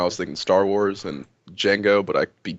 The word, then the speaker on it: Django: You were talking about bounty hunters and interstellar stuff, and I was thinking Star Wars and Django, but I beat Django with a D. The D is silent.